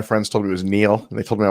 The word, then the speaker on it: Niall: a lot of people nigel nigel nigel ferguson so we have and when people call me nigel i will correct them yeah the famed the famed historian and uh uh sometimes biographer neil ferguson with us today